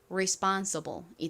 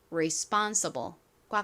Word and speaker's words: responsible: 그래서 미국시 원어 발음으로 발음해 보면 responsible이 됩니다. responsible fun 부분에 큰 강세가 있습니다. 그래서 responsible과 같이 발음해 주셔야 된다고 말씀드렸죠.